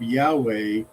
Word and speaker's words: Yahweh: 28 of the foreword, it says that the pronunciation of Yahweh is the more correct pronunciation.